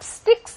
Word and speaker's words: sticks: 5, 6, pick up sticks 했는데요. sticks라는 게 잘못 발음하면 우리는 sticks가 되기 쉽습니다. sticks. 그러나 이거는 sticks하는 이름절이에요. 모음이 하나밖에 없는.